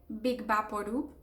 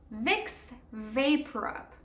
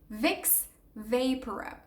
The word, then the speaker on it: Vicks VapoRub: So Vicks Vaporub. The first word, Vicks, not complicated, Vicks. The second one would be vapor and then rub.